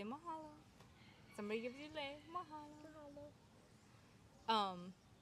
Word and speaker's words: mahalo: Mahalo.